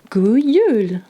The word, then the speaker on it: God jul: It's spelled the same, but it's pronounced a little differently. In Norwegian, you say, God jul.